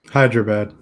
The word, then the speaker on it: Hyderabad: ago that a small startup from Hyderabad India Hyderabad that's how it's pronounced okay Anita made headlines because it was